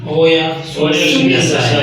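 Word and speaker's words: おやすみなさい: वो जब प्रोनाउंस करते हैं तो वो मतलब पहले पे जोर देता है, फिर आगे आगे आहिस्ता आहिस्ता स्लो हो जाते हैं।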